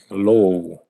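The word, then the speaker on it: ρ: 이건 뭐라고 읽어? 로우. 로우라고 읽죠.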